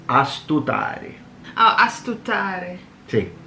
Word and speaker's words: astutare: So like astutare. Oh, astutare. Sì, astutari. Wait, is it astuta or astuda? Ta. Astutare.